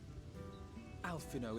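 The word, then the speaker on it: Alphinaud: Alphino, if it please you, my lady. And this is my assistant. That's how you pronounce it.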